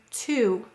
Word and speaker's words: two: how about this word to which phonogram in this word is an exception well there's a silent w it looks like it says two but it says to this word though is